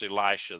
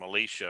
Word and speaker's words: Elisha: elisha's door and yeah if i was going to pronounce elisha the way it you know in the hebrew it's elisha okay but uh um i would i mean i would end up calling starting to call him alicia or something like that